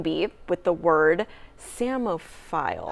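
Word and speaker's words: psammophile: Dev won the spelling bee with the word samophile. How do you spell that?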